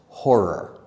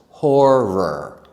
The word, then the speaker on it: horror: We also used another word for that, horror. That's a little bit hard to say because it has two parts that are very fast. Horror.